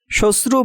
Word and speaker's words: শ্বশ্রু: শ্বশ্রু বানানে তালব্যয়ের সাথে শব্দের শুরুতে মফলা থাকায় মফলার উচ্চারণ হবে না।